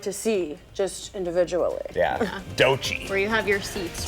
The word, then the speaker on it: Doechii: Artists like Olivia Rodrigo, T-Pain, Doechii. Doechii, am I pronouncing that right?